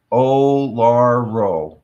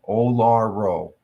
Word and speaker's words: Uluru: It's pronounced Olaro. Olaro.